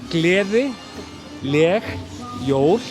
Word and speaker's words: Gleðileg jól: Then it's gleði, leg, jól. Gleðileg jól. Sounds actually like leiðileg jól.